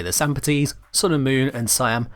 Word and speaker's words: Sampotes: Lastly, we have the Sampotes. Again, I'm sticking with a roughly Greek style pronunciation like with the Azothane.